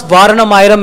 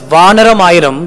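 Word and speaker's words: Vaaranam Aayiram: And if you pronounce Varanamayiram as Vanaramayiram, that means 1,000 monkeys.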